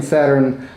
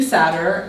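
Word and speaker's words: Satyr: sure i'm getting the you're not saying saturn like the the god or the planet saturn got it he's a sleeping sadder and i've always wanted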